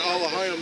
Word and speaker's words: Elohim: And that um that alohim that's just um that's just how you pronounce Elohim like in the ancient Hebrew which means power.